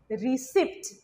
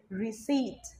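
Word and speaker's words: receipt: যেটা অনেকেই বলে ফেলে রিসিভ কথাটা রিসিভ না ইট ইজ রিসিভ রিসিভ রিসিভ okay P is again silent ward number six original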